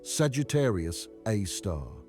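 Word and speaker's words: Sagittarius A*: It's called Sagittarius A Star, pronounced Sagittarius Aar.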